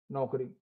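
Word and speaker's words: knock: जैसे इसके एग्जांपल्स हैं, जैसे नो है ना, के एन ओ डब्ल्यू, नो, के एन आई एफ E, knife, के एन ओ सी के, नॉक।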